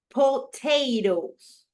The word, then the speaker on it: potatoes: Okay, it's 2. Okay, it's potatoes. Right here, I have the stress.